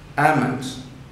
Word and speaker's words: almond: Chalk, almond, A-L-M-O-N-D is a spelling, but law is deleted, almond.